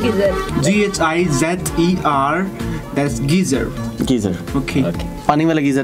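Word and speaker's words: Ghizer: How do you pronounce Gizer? G-H-I-Z-E-R. That's geezer.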